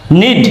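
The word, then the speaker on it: knead: means হাঁটু কে N double E নিনস হাটু নিড কে এন ই এ ডি নিড means মালিশ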